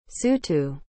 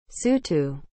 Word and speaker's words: Sotho: what is the meaning of the word sutu as an adjective ever relating to any of